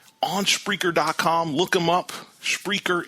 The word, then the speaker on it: Spreaker: Spreaker is spelled SPREAKE. Aura. Again, it's speaker with an aura in the middle.